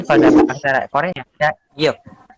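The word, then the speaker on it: 기역: Ini biasanya dibaca kalau dalam pelafalan Indonesia itu dibaca G atau A. Namun kalau dalam bahasa Korea ada Gyok. Kiok.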